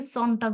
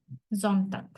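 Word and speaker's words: Sonntag: আসতেছে জন্নটাক তো এইটা এরকম হইতেছে কেন এটা উচ্চারণটাই এটা মানে ডয়ে ওরা হচ্ছে জনটাক বলে এটাকে সন্নটাক বলে না জনটাক যখন আপনি কোন কিছু শুনবেন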